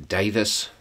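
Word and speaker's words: Daviess: um it's happening in davis county kentucky which is uh that's spelled davies if you're gonna look it up and what happened is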